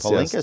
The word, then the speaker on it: Palinkas: Miss Palinkas, am I pronouncing it? Palinkas, yes.